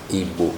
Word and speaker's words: Igbo: None of them is the correct pronunciation of the word. Forgive me. Igbo.